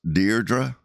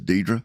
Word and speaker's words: Deirdre: So her name is actually pronounced, if you pronounce it correctly, it's pronounced Deerra. You know like Deerra Hall the actress Deerra she introduced herself to me as Dedra.